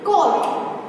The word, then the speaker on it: caught: CAUGHT यानी कोट। तो यहाँ पे भी GH है वो क्या है? साइलेंट है।